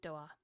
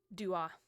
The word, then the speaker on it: Doa: Pronounce pronunciation Doa. No, Dwa.